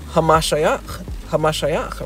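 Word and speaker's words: המשיח: In Hebrew, it's pronounced Hamashiach, meaning the anointed one.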